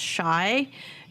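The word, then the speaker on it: Shai: was just announced today it's sha i it's pronounced shy joseph bravo neck oh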